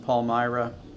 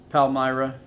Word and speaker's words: Palmyra: renting a house in palmyra am i pronouncing that right nope palmyra that's not what i said who knows you know